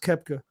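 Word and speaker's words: Koepka: choking at the Masters that's I think it's pronounced kepka you kid probably is and I don't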